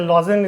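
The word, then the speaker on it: Lausanne: इसका headquarter Lawson में है। इसको हिंदी में हम लोग लुसाने कहते हैं, और ऐसे लॉजन इसका प्रोनाउंसिएशन होता है।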